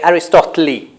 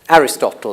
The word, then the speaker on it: Aristotle: So, leokuon, then I say Aristotle, but I must say I've heard native speakers say Aristoteli. Aristoteli doesn't exist. Well, it's not the normal pronunciation. It's not in dictionaries. Aristotle is the one people use.